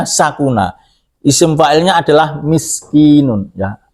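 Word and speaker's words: سكن: Nah ini ada fi'il madinya sakuna juga, sin kafnon, tapi bacanya sakuna.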